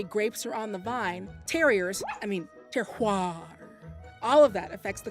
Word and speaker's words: terroir: Climate, soil, and terrain, the bougie word for the combination of these factors is terroir. And it looks a lot like terrier, but that's definitely not how you say it.